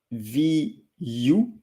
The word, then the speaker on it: vu: Like the U in English is not the U in French in terms of pronunciation. So U, the letter in English, is U in French. And most of the English-speaking people are saying OU. But V-O-U-S, vous, V-U, vu.